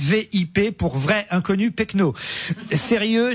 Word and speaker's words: VIP: On nous avait promis des VIP, c'est sûr, mais il ne faut pas le prononcer à l'anglaise, mais bien à la française, VIP, pour vrai inconnu pecno.